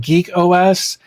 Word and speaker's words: GeakOS: Uh, today we're going to check out something called Geek OS, uh, and I know that it looks like I spelled it wrong, but I didn't. Uh, they spell it g e a k for some reason, so,